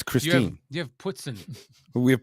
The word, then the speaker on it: Christine: here we have Chris Ste Lake oh it's Christine you have pson we have puton it's ptin